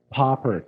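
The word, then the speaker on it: Papert: So our story starts with a gentleman by the name of Seymour Poppert. That's how you pronounce his last name.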